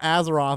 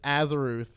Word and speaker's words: Azeroth: oh, it's not Azeroth, it's Azeroth. Azeroth.